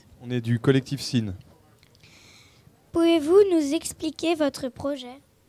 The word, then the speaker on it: SIN: SIN, c'est la première syllabe du mot sinusoïde.